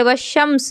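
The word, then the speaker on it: والشمس: जैसे यहां हम "वाल-क़मर" पढ़ते हैं, लाम का उच्चारण भी किया जा रहा है। लेकिन यहां हम "वॉश-शम्स" पढ़ते हैं।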